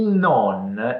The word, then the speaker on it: non: Fatta questa introduzione, a livello di pronuncia, la O del no è aperta, mentre quella del non è chiusa. No, non.